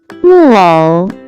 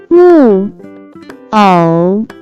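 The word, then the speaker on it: 木偶: can be pronounced as 木偶，木偶，木偶。 Let's break down it to understand it even more. It has 2 characters, pronounced with 4th and 3rd tone.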